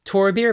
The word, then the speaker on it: Thorbir: The second character is *also* a gruff, dismissive jerk - Thorbir - pronounced Tor-bir, but spelled like Thor, so if I pronounce it wrong, it’s because I’m reading from a script.